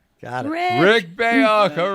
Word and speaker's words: Rick Bayuk: Let's make sure we can pronounce his name right. Rick Bayuk. Got it. Rick Bayuk.